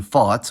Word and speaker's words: fat: This is shown in the difference between fat, with a long vowel, and fatt, with a short vowel.